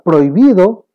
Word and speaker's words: prohibido: en el caso de la palabra prohibido, ya que la H no se pronuncia, no tiene ningún sonido, pues entonces también se considera como un hiato.